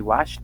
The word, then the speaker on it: watched: esa es la Ed no va a sonar de forma Clara no vamos a decir